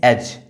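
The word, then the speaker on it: edge: ये जो ई है यानी कि ये डी है वो साइलेंट है, क्योंकि डी इसलिए साइलेंट है क्योंकि ये जी से पहले आया हुआ है।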